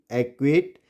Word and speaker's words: acquit: Silent होगा। देखिए, LOCK lock, BLOCK block, ACQUIT एक्विट, ACQUIESCE aqueous, SCENE scene, यहाँ पे साइंस, डिसिपल एंड मसल्स।